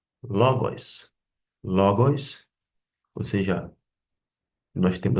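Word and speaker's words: λόγος: Pelo contrário, eu sei que aqui a sílaba tônica se encontra em ló logos.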